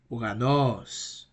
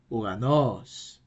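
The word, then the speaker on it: οὐρανός: so it's U and the right pronunciation will be uranos uranos finally we got our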